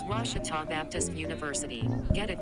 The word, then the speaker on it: Ouachita: at a baptist university back in texas everybody pronounces it wichita but really it's ouachita washington how would you pronounce it it's washita baptist university get it right let's watch it